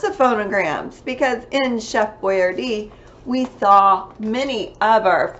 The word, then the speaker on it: Boyardee: So when I wear my chef hat, it's to help you with lots of phonograms, because in Chef Boyardee, we saw many of our two-letter phonograms.